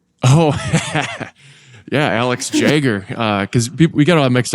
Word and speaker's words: Jagger: It's pronounced like Jaguar is how the note for people that can't see that.